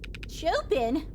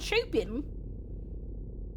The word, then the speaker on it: Chopin: Pronounced like the pianist I am at ES. Mr. Chopin. Not like Chopin. Or is it Chopin?